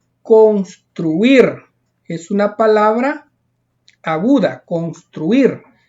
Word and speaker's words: construir: Las palabras agudas, graves y esdrújulas que aparecen acá, miren, por ejemplo, construir es una palabra aguda, construir. Lleva la mayor fuerza de voz en la última sílaba.